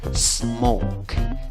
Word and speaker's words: smoke: La escritura es con una O, la pronunciación no es con O solamente, sino es con O, W, por decirlo así. La O con el sombrerito suena como O y W. Hay una E en la escritura al final, en la pronunciación no hay una E. ¿Cómo pronuncias esta palabra? Smoke, smoke. No pongas una E antes de la S.